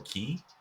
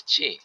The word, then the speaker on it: qi: how isqi or or keyi I think ki is how it's pronounced. Um and potato. Yeah. The Chinese pronunciation is chi.